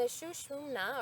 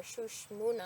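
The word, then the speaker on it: Sushumna: And the Shushmuna, or Shushmuna, I've heard it pronounced both ways, is that central channel of energy.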